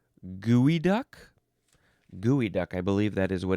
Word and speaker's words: geoduck: Um, the word was said geoduck, but actually it is pronounced gooey duck.